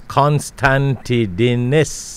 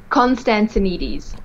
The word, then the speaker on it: Constantinides: and to get a full name it's constanti diness and i hope i did that correct